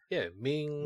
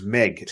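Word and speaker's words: Meng: Ming. Yeah. Haku. He was good, but his son here just does. It's Meg. It's Meg, not Ming. It's Meg.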